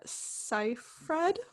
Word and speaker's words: Seyfried: julia but i don't know it stars amanda scifred that how we pronounce it yeah awesome did my research got